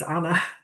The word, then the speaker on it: Anne: Because my native language is Dutch, and in Dutch it's Anna.